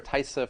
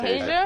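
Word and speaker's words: Taissa Farmiga: And it also had Thaisa Farmiga, who was in I think it's Tasia. Tasia. Tasia? I'm Thank pretty sure you. that's how you pronounce it.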